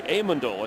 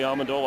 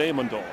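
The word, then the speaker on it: Amendola: as Danny amandola and that's how he likes it pronounced by the way amandola he said people call me amandola I don't mind but in our family we like it amandola former Texas techar who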